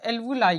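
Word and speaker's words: alveoli: जिसे हम एल्वुलाई कहते हैं। एल्बु लाई कहते हैं। इसकी स्पेलिंग क्या होती है?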